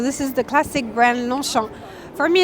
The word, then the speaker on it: Longchamp: So actually, if you take out the J and you take out the P. You mean G, right? G, yeah. It's Longchamp.